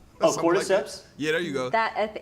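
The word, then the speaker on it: cordyceps: I don't know how to pronounce this word, but I think it's orcortisps. Oh, cortiseps.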